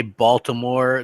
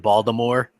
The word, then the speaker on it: Baltimore: Yeah, that's like people say Baltimore. They pronounce it Baltimore. Right. You know, instead of Baltimore.